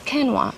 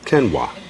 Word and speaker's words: quinoa: can make it tasta no it's kenoa kenoa so you can put